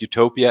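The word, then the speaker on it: eutopia: So he himself used the playing with the words utopia and utopia, which you spell differently, but you pronounce exactly the same.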